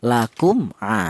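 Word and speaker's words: لكم: Yang benar mem mati ini dibaca jelas atau dibaca idhar, lakum.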